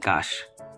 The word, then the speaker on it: cache: So, kapag na-click na natin si Messenger, click natin tong storage and cache. Cache yung correct pronunciation niya.